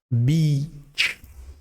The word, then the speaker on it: beach: It's not E, it is so double E or EA like this will sound like beach. So if you're not sure on how to say it, just say the word beach before you say the word beach, because here, beach, it's just a one letter difference.